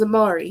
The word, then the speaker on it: Amari: "My name's Amari," he rapped. "Rhymes with Atari.